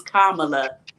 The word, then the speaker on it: Kamala: said, "You guys can remember Kama, and remember just put the "la" at the end. It's Kamala."